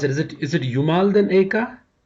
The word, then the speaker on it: Jumalten Aika: And the title itself, I don't know how to pronounce it. Is it Jumalten Aika? Jumalten Aika.